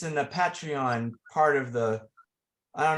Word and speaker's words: Patreon: Is that how it's pronounced? Patreon, like Patreon, thank you.